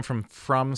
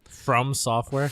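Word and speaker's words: FromSoftware: So Bloodborne, this is the game from Software. Mm-hmm. Is that how you pronounce their name? Yeah. Okay. From Software? From Software. FROM? Yes. Yeah.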